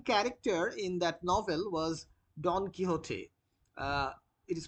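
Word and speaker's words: Don Quixote: So the main character in that novel was Don Kiote. Uh it is pronounced like this.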